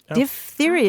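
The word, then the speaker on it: diphtheria: dthera which um gave us the word diptheria D theia is the way you pronounce it because um part of the characteristics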